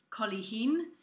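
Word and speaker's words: cuilithín: below but it's pronounced collie Hien and this is Irish Gaelic for ripple and there are three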